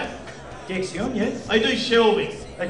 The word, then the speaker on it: Dexion: Dexion, yes.